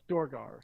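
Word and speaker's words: Duergar: So I don't know how to pronounce it. I think it's Druger. Durgar? Dorgar? Yeah. Yes, Dorgar.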